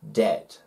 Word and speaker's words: debt: m before the t so debt before the t d debt debt not